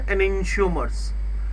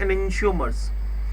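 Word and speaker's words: enantiomers: इसमें मेरे पास है ENANTIO, क्लियर, प्रोनाउंसिएशन है एनेंशियोमर्स, इसको प्रोनाउंसिएट करेंगे एनेंशियोमर्स।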